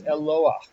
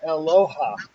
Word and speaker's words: Eloah: shabbos again um but this is eloah when you get when we get to this you're going to be pronouncing it correctly and but i want you to listen to all the people around you who say aloha yeah okay like me